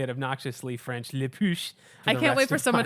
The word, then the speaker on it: La Push: It is not La Push. Like, Ben, you're like at least a quarter French somewhere, Creole. Like, yeah. you cannot say it La Push. It's, Okay. It's like saying La Tortilla. Okay. It's just wrong. I did not know it was Le Push.